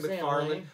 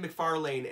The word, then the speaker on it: McFarlane: I got so much shit for mispronouncing McFarlane. I said McFarlane, and I got so much shit on an episode from people.